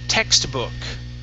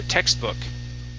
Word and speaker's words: textbook: Let's go to the word textbook. Okay, give me a good sound here. Textbook. Textbook. Okay. Now, in this word, we will need the T after the X, so text.